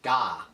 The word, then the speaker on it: Gah: and she always lives in Gah, like God, but G-A-H, that's how she pronounces it.